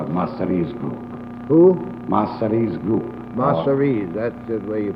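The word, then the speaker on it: Masseria: know always have to call it masteries group Mastery that's just where you pronounce it uh do you know the name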